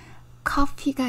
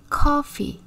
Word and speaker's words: coffee: 밀어주는 FF 하셔야 됩니다 f가 드러난 단어 중에요 커피가 있어요 자 coffeec는 키읔 소리가 나고요 ff는 피읖 소리 2개가 붙었죠 조금 길게이 소리가납니다 그래서 커피 커피 위에 이빨로 아래 입술 살짝 이렇게 눌러 주셔야 돼요 커피 커피 불이라는 뜻을